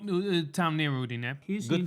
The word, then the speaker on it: Udine: They're from a place called Udine. Well, not a town near Udine. Good pronunciation, by the way.